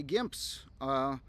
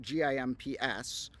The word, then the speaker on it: GIMPS: And then here, we get all these ones that look like they say GIMPS. Unlike other words that also are spelled and pronounced like that, this is more of an acronym, GIMPS.